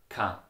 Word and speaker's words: keine: So if you look at the word kein, keine, it's pronounced in Austria dialect ka.